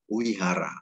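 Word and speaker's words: vihāra: love ya Sorry V Ini dibaca wae teh contohnya ada tulisan Vihara ini kalau kita sudah belajar tanda baca paling wacana teks itu berarti kita bacanya Wihara walaupun tulisannya fir1 lagi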